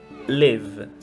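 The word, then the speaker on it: לב: Então nós temos como, por exemplo, a palavra lev. Lev, que tem a letra bet, porém ela é pronunciada como v. Isso porque ela se encontra no final da palavra.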